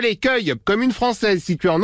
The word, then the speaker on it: Cueil: u e i l c'est marrant parce que ça s'écrit exactement comme l'accueil on accueille les gens finalement oui comme l'accueil c'est ce que je